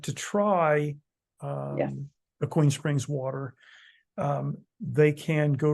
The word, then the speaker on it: Aquene: A queen? It's not a queen. It's actually pronounced Aquene, A right? queen. I know, but I was thinking. Aquene.